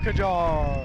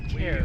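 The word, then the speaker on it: Kjar: Kajar. Oh, it's pronounced Care. We've recently been informed that it is pronounced Care.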